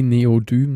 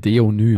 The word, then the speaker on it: Deonym: Wie Neodym. Neodym, genau. Nein, Deonym. Ach, Deonym. Neodym ist ein Element.